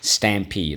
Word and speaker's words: stampede: you stamp your feet stampede let's go stam peed stampede all right so let's go first syllable stam second syllable peed and again ped is